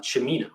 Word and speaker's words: Cimino: I should note though that my last name is pronounced Cimino, like Al Pacino. Got it. Cimino.